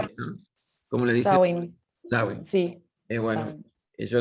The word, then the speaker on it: Sawin: No sé cómo se pronuncia Clara, pero es Sawin, Beth ¿no? ¿Cómo le dice? Sawin, Sawin.